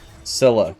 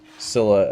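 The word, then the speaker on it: Scylla: Sila. Sila. I it I'm pretty confident it is not pronounced Skila.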